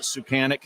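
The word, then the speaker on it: Suchánek: got golender Tomas sucan I've actually heard multiple ways to say his name the AHL affiliate he was with the San Diego ghouls called it sucan so that's what we're going to go with this evening um he had like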